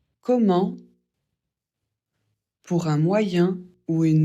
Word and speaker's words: comment: Comment pour un moyen ou une manière ? Pour la prononciation E et N, ça fait en on ne prononce pas le t à la fin, sauf pour comment allez-vous ?